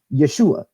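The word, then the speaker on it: ישוע: pronunciation his actual Hebraic in Aramaic name is pronounced Yeshua this can be proven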